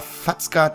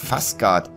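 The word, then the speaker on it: Fazgard: stahlaxt habe ich gesagt das ist falsch der heißt gar nicht fzgart das zZ wird nämlich im zwergischen das wusste ich gar nicht wie ein S ausgesprochen und deshalb heißt natürlich fasgard stahlaxt fasgard stahlaxt der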